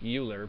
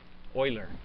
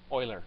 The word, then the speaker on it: Euler: is may be pronounced euler but it's not because he's a swiss guy okay and eu right is pronounced oy there euler okay just like uh